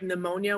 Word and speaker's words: pneumonia: mind it's not even like pneumonia where it's a silent p but it's there there's